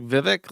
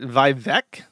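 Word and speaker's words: Vivek: doesn't pronounce it like Vivic, like the uh the bad guy from um The Elder Scrolls. He pronounces it Vivevec, which apparently is like the correct Hindi way of uh of doing this.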